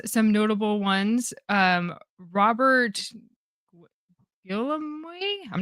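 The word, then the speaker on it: Guillaume: Um, Robert Gilami, I'm not sure how to pronounce it, but he's the voice of Rafiki. It's his birthday. Um, B. Midler. Robert Gom.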